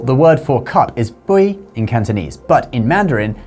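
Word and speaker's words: 杯: For example, the word for cup is bui in Cantonese, but in Mandarin, they add a zi on the end, so it's beizi.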